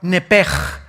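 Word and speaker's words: נפש: La palabra, la letra o las letras sh en del hebreo se pronuncian en hebreo como J.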